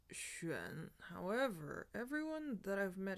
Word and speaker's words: 癣: So the dictionary tells us that this character is pronounced xuan. However, everyone that I've met and spoken to who has used this word pronounces it xian.